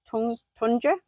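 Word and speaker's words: Tuncer: So their surname is Tunda and it's spelled T U N C E R but it's pronounced J.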